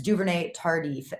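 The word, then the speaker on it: Duvernay-Tardif: It's Duvernay Tardif that I was trying to pronounce there.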